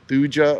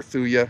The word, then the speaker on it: Thuja: that a white cedar the genus name is thuja or thuya however you want to pronounce it but right next to